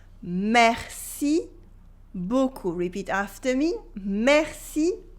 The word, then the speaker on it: beaucoup: Here the P is silent, okay? Merci beaucoup. Merci beaucoup. Repeat after me. Merci beaucoup.